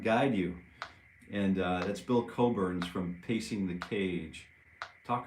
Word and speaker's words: Cockburn: And it's spelled Cockburn, but it's Bruce Coburn's Celestial Horses.